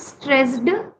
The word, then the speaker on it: stressed: No, you you have to pronounce the You don't have to emphasize on the d. Okay. So for example, it's not stressed. It's stressed. Stressed. Soft Soft sound. Yes.